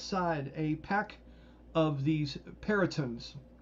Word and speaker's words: Peryton: a pack of these Perytons. How do you guys want me to pronounce that? Because I'm not very good at that. Peryton. Oh, good name. Peryton works? Oh, that'll work, yeah.